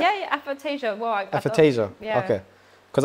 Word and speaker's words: aphantasia: Yeah, yeah, Aphantasia.